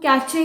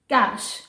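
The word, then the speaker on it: cache: यस, ये जो कैश है इसको हम कैचे कह के नहीं बुलाएंगे, इट्स कैश।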